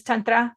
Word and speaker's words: Tantra: coaching and Tantra and so in the correct pronunciation is Tantra but most people don't know that so I'm